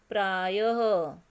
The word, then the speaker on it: प्रायः: इसका उच्चारण ह जैसा होता है, ह पढ़ते हैं उसे हम। जैसे प्रायः, यहाँ प्राय और य के पीछे दो बिंदी हैं तो इसे हम क्या पढ़ेंगे, प्रायः। उसके बाद अंतःकरण, अंतःकरण।